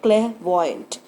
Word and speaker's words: clairvoyant: लेते हैं दूसरा शब्द clairvoyant, CLAIRVOYANT. इसमें I R साइलेंट है, बनता है शब्द clairvoyant, जिसको हम फॉर्च्यून टेलर या सूदसेयर कह सकते हैं.